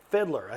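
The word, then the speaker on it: Fiedler: Fiddler. I looked it up. I said that name wrong all my life.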